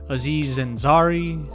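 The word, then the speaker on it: Aziz Ansari: You know, the movie with Keanu Reeves, Seth Rogan, Kegy Palmer, Aziz Zenzari.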